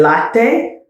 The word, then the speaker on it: latte: Do pronounce the E at the ends of Italian words. So for instance, I said latte.